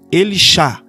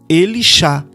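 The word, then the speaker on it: Elisha: O nome de Eliseu, como se pronuncia? Elishá. Significa Iau é salvação, porque o Shá é salvação. Elishá.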